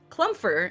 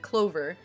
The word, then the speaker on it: Clover: So what had happened was, I was collabing with someone at the time, and he accidentally mispronounced my name and said Clumfer instead of Clover.